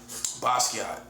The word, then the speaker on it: Basquiat: When you first say his name, you know, you gotta get used to it. It's almost like his name is art. You gotta see the name and pronounce the name.